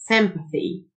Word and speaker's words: sympathy: تنطق شه compassion sympathy ال TH تنطق ذه sympathy mercy mercy قسوة cruelty